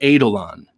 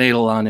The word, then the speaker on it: Eidolon: And he has a new knife coming out from Wii this year called the Eidolon. And that's how I'm going to pronounce it.